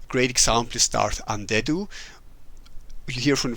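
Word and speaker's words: Andedu: So that when you read it, you don't automatically go, "Oh, undead." Yeah. So, it's a little bit hidden, but it if you pronounce it, yeah, it's undead.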